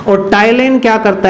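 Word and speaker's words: ptyalin: टाइलिन, PTYLIN, टाइलिन enzyme, P silent है इसमें, टाइलिन enzyme और एमाइलेज, ये 2 मुख्य एंजाइम लार में पाए जाते हैं।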